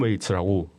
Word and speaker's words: Waits: 톰 웨이츠라고 톰 웨이트. 웨이트 스펠링 좀 알려주실래요? 웨이 WAITS. 아 그 기다리다 그 웨이트인가요? 예, 웨이츠 톰 웨이츠 뒤에 S 해가지고.